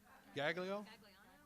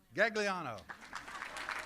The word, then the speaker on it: Gagliano: Judge G. Gilano. I messed that up. Gagliano. Gagliano. I told you I mispronounced it.